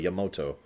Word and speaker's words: Yamato: you and Yamato, or they say it so right, Yamato. Yamato, that's how they say it.